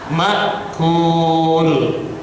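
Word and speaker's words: مأكول: tanwin ketemu mim dengung makquul makquul ka jangan diganti Q kangkadang ka Dianti Q Q diganti ka Kaf Kaf lain ya alam taro alam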